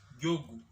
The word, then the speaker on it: Njogu: And in Gikuyu language, the moment a name starts with the letter N, that N is always silent. So the name is written Njogu but pronounced as Jogu.